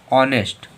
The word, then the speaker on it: honest: अब HONEST, यच के बाद में फिर से ओ आ गया तो इसे क्या पढ़ेंगे? ऑनेस्ट। ऑनेस्ट।